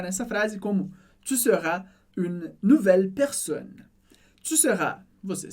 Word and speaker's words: une: Perceba que tem o som do U, do biquinho, bem forte. Une. Mas eu não falo o E do final. A gente não diz une ou une. Não. Une. Une.